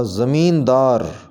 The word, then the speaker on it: زمیندار: گے رسوخ، رسوخ۔ زمیندار، صحیح تلفظ اس کا یوں ہوگا زمیندار، زمیندار۔ حکومت، اس کو صحیح